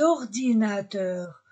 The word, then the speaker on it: ordinateurs: ordinateur avec S des ordinateurs S avec deux voyelles e o se pr pronce des ordinateurs on ne prononce pas le S un ordinateur masculin syingulier